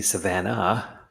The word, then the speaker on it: Savannah: Oglethorpe named the city Savannah, with an ah at the end, after the nearby Savannah River, a name likely derived from the Shawnee word Savannah, Savanna, no H, so slightly different pronunciation.